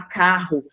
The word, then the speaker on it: carro: som entre o NH quando você fala carro você não consegue ouvir o o r e o r É como se você estivesse ouvindo somente um R Então você tem totalmente